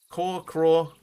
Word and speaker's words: crore: So 10 million rupees in Indian currency equals 1 crore is how it is pronounced. So it's like craw, journey to the craw, because you're looking for one specific 10 million thing.